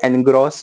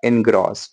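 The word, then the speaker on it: engross: इट इज नॉट एनग्रॉस, ए एन वाला एन नहीं है यहाँ पे, आर्टिकल वाला एन का प्रोनाउंसिएशन नहीं है। आई एन इन वाला जो प्रिपोजिशन है उसका प्रोनाउंसिएशन आएगा इनग्रॉस।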